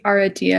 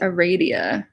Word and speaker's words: Aradia: this pronounced different ways I've heard this pronounced our idea and I've also heard it pronounced Aradia so there you go